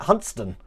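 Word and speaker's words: Hunstanton: over here or as the locals call it huntston do you believe that hunts stanton there is actually pronounced hudson just like uh let me try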